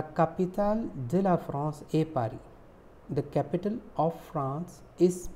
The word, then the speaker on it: Paris: P-A-R-I-S is pronounced like Paris. A is pronounced like A and S is silent.